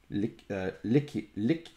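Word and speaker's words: Liedjies: Yeah, I got really confused earlier because of Lickies. L-I-E-D-J-I-E-S. Lickies. So I guess the D and the J combo makes a K sound, but let's see.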